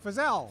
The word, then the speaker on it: Feazell: is it Feazell? Feazell. Feazell. Well, It's got two L's. It rhymes with gazelle.